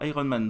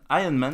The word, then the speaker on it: Iron Man: Iron Man d'ailleurs. Oui, parce qu'en VO, le R il se prononce pas tellement en fait.